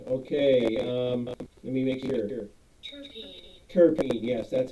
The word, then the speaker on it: terpene: stuff oh yeah okay let me make sure terpene yes that's how it's pronounced it's basically um a hydro carbon found